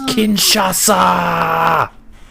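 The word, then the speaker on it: Kinshasa: kinasa sealed the deal he didn't say it right more it's kinasa sorry and new NXT champion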